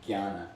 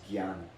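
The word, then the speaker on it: jnana: on Gana Gana yoga spell J well it's pronounced g y a n a Gana but it's it's actually in a lot of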